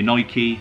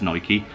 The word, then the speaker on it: Nike: however you pronounce it if you're American it's probably Nike probably should be said as Nike as sprits tend to say Nike in an official Nike